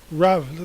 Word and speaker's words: Rav: I mean, Rav. Notice Rav Kook instead of Rabbi, because they're in the habit of pronouncing a B as a V, which is actually not which is important for the subsequent discussion.